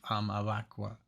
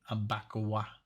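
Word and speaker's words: Abakuá: Abakwa, with an accent on the A at the last, the second A. Abakwa.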